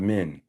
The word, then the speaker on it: Min: Men, and like as in men. Yeah, but spelled with an I, M-I-N. The god Min is the Kemetic god of, And that's men.